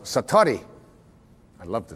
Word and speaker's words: Satori: it's called excuse my Japanese but it's called Satori I'd love to say that Satori SAT Ori